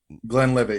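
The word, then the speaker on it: Glenlivet: bottle of 15-year uh i think it was glenn levitt yeah i i could be mispronouncing the name i'm glenn levitt yeah you got it and i already had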